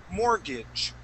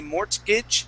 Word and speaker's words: mortgage: get what's called a mortgage. Mortgage. That's how we pronounce that. The T is silent. The T is silent. We do not say mortgage.